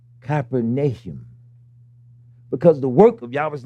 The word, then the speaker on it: Capernaum: how you say it we now say Capernaum it's actually capernum because the work of